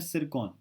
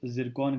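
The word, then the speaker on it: Tsirkon: ठीक है, 10 मिसाइल्स हैं अराउंड, और इनका नाम है सिरकॉन। ठीक है, इसको वैसे प्रोनाउंस जिरकॉन करते हैं। ठीक है, द टी is silence and एस is pronounced as जी।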